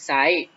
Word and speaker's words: ไซร้: เท่า นั้น นะ ครับ ตัว อย่าง เช่น ตัว จริง ไซร้ อ่าน ว่า จริง ไซส์ นะ ครับ เศรษฐี เศรษฐี